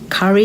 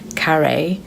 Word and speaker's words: carré: And then I ordered my main, which was lamb curry, you pronounce it, but it's lamb carré.